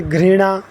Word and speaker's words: घृणा: और री की मात्रा से घ्री, जैसे घृणा। कई लोग जैसे पढ़ते हैं तो री की मात्रा शायद उनको पढ़ा ना जाए, तो घ्री से ग और री, तो घृणा इस प्रकार पढ़ सकते हैं।